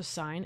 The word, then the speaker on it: sin: So sine, and yes, it's spelled sin, S-I-N, sine over time.